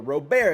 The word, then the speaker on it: Robert: but you have Anderson, Luis Robert, or Robert, it's actually how you say it, but no one says it like that.